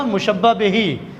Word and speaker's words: مشبہ بہ: وہ مشبہ کہلاتا ہے۔ دوسرا مشبہ بہی، صحیح تلفظ ہے اس کا مشبہ بہی، کیونکہ عربی زبان کے الفاظ ہیں، تو جس چیز سے